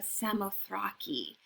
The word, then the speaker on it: Samothrace: She is the Nike of Samothrace, or you could pronounce it the Nike of Samothraki, or you can call her Victory, but that's her Roman name.